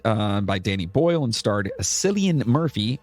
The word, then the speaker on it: Cillian: 28 Days Later was directed by Danny Boyle and starred Cillian Murphy. Is it Cillian or Killian? Killian. Killian.